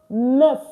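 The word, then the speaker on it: neuf: N is pronounced nef nef.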